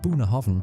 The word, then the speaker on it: Bunnahabhain: It's pronounced Bunnahabhain, and it's basically the quiet kid sitting at the back of the Islay classroom.